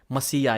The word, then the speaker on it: Messiah: Messiah is the correct pronunciation. I was also pronouncing it wrong like Americans.